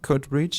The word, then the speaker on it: Coatbridge: Alors, Airdrie, Coatbridge et Greenock. C'est ça, je les prononce sans doute assez mal, mais je vais vous laisser le faire peut-être.